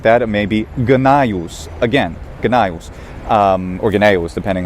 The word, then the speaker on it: Gnaeus: Gnaeus, which is a Gnaeus or simply Gnaeus, it